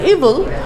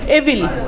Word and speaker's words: evil: Good and to destroy ইভিল। আচ্ছা, আমরা কিন্তু আরেকটা জিনিস ভুল করি, আমরা কি উচ্চারণ করি বলেন তো? এভিল, তাই না? এভিল শব্দটা, এটার উচ্চারণ কি? EVIL। আচ্ছা, এটার অ্যাকচুয়াল উচ্চারণ হলো ইভিল।